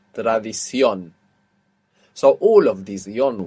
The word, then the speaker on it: tradición: That last O will have a written accent on the end, showing you that you're stressing it. Tradición.